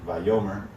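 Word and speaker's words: vayomer: and the lord said by yomer and it looks like vayomir it's by yomer that's how you say it okay so by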